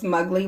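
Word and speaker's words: Muggli: So Michael Strahan's ex-wife, Jean Mugley, and it's interesting that that would be her last name considering how she looks. Mugley rhymes with ugly.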